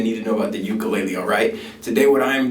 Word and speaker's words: ukulele: In Hawaiian, it is pronounced ukulele. I get a lot of debate sometimes on my channel about that, like ukulele versus ukulele. Ukulele is the traditional Hawaiian pronunciation, but in American English, if you say ukulele, it's fine, okay?